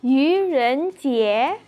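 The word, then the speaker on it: 愚人节: Yaitu Yu Ren Jie.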